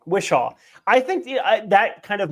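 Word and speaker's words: Whishaw: I think after the the after Ben Wishmer I always get his name wrong. Wishaw I think that kind of mold of Q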